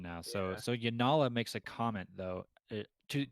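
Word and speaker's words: Janala: There's even a comment, the girl that Adolin is with, is her name pronounced Yanala with another Correct.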